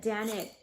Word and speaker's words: Danit: Her name is Janet. If you guys Google or on YouTube find shamanic music, it's so easy to play along with these. But Danit, it's spelled D-A-N-I-T.